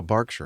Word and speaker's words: Berkshire: Oh, Barkshire, not Bergkshire. Okay. Then why did they spell it with an A?